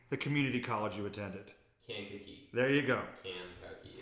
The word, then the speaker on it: Kankakee: Kankakee.